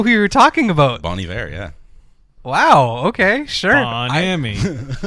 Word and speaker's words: Bon Iver: Wait, is that how you actually pronounce that band? Bon Iver, yeah.